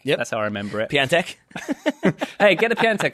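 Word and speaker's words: Piątek: to pronounce his surname P antic mate always makes me think of someone who repairs pianos like a piano tech yes I remember it P antic hey get a pen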